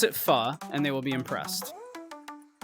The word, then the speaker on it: pho: And make sure you pronounce it pho, and they will be impressed.